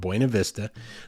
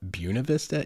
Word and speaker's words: Buena Vista: certain portion of them call it Buena Vista and that's actually even in documentation from the early days of the Town it was almost taken on as a pronunciation and that is just an absolute travesty that is an affront to the Spanish language and I refuse to